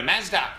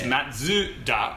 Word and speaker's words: Mazda: Of course, we go Mazda. But then when we did that video and realised that it was 3 syllables, it's Matsuda.